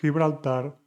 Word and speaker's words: Gibraltar: Like uno, Gibraltar, suena como Juan.